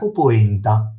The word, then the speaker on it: polenta: mi raccomando la centro sopra là perché sennò parolaccia alla veneziana venesiana poenta o polenta si scrive polenta.